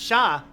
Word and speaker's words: Char: See, I get it because Char Aznabel's name is actually pronounced Shah.